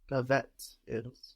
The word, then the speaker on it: peuvent-ils: You only hear that last consonant, and we hear it because it's sticking on to the next word. It's not on the end of the syllable anymore. No, it's the beginning of a new syllable.